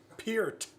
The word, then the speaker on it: Peart: Who can pronounce Neil's name correctly? That's your job. Peart.